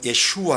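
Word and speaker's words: 예슈아: 라는 이름으로 오신 거에요 원래 발음은 예 슈와 로 발음해야 되는 거죠 이슈와 예수와 하마 셰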